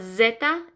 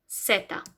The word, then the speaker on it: Zeta: Y is Y, okay, and Z is Zeta. Okay, so it's not Zeta, it sounds like a C, Zeta.